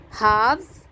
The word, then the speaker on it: halves: Halves, L is silent.